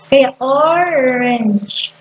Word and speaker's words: orange: Kaya orange. Parang ang pinopronounce ito, apat na word na lang eh. O, R, N, at saka G, J.